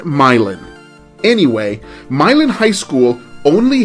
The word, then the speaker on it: Milan: way myelin is spelled m-i-l-a-n and it looks like it should be pronounced milan as in milan italy but in indiana they pronounce it myelin anyway milan high school